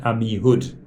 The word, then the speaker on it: Amihud: It's written Amichor, I don't know why, but it's pronounced Amihud.